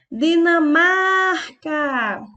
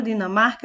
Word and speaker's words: Dinamarca: a mais forte a Dinamarca EA palavra Dinamarca é uma paroxítona porque a sua penúltima sílaba o mar é a sílaba mais forte Espanha e a palavra